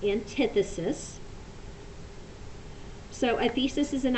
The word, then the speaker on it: antithesis: so this is antithesis you will hear some people call it antithesis but it really is pronounced antithesis so a thesis is